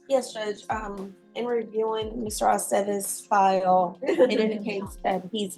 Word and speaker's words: Aceves: I never know what to do with the V's either. With what, ma'am? The V's, in the names to pronounce it correctly. It's always ve. Ve, Aceves.